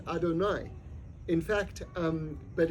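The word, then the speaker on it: אֲדֹנָי: of Hashem is spelled Al and that's actually pronounced Adonai in fact um but it's not yud and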